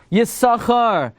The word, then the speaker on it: Yissachar: And therefore the way you pronounce it is Yissachar.